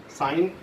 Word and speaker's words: sin: साइन इसका पूरा सिन, मतलब सिन लिखते हैं लेकिन पढ़ते साइन है, क्योंकि ये पूरा जो है वो SINE स्पेलिंग होती है।